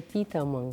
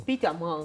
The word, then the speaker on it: Petermann: E o alemão, que é o Petermann, a pronúncia correta é Petermann. Petermann.